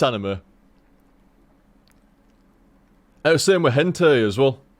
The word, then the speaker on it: anime: call it anime or anim anim yeah an anim or animy I must confess I also used